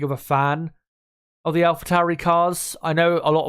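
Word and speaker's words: AlphaTauri: lot cooler sounding than Alpha Towery a lot of people as well pronounce it wrong and say alphatori which uh you know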